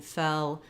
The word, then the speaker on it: fell: my tongue is tense e is a little lower and my tongue is relaxed so I would say to get the difference between fell and fail practice just